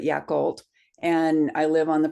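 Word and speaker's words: Yacolt: town in Washington state called yakal not Yakama but yakult and I live on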